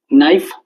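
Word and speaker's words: knife: नाइफ, नाइफ को हम कैसे बोलते हैं? के एन आई एफ ई तो लिखते हैं, के एन आई एफ ई, लेकिन के साइलेंट होता है ना।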